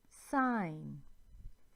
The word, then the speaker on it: sign: The G is silent here, as in no, sign.